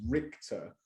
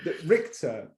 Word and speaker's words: Richter: But I think the official pronunciation, or more accurately, the way the person who I've stolen it from pronounces it is Richter, because I think it's German, and I think it means judge.